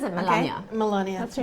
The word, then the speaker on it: Melania: to No, pronounce it? she- Melania? She says it Melania.